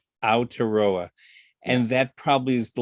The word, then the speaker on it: Aotearoa: It means the land of long white clouds, and you pronounce it Aotearoa. Aotearoa.